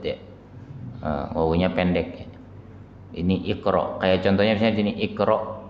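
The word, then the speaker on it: اقرأ: Ini orang kalau nggak ngerti bacanya ukro, padahal aslinya adalah ikro.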